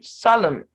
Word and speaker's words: solemn: to add it then n is silent in mn autumn solemn condem him column now remember